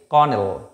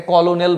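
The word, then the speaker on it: colonel: এটা actually কর্নেল, কর্নেল। ওকে, কর্নেল। আমরা এটাকে কলোনেল বলবো না, কলোনেল নয় এটা।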